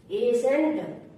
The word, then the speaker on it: ascent: एस के बाद आया सी हमेशा साइलेंट होता है। जैसे एसेंट, ASCENT, एसेंट।